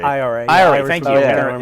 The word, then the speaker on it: IRA: of bombings by the NRA in is it NRA? Am I saying it right? IRA.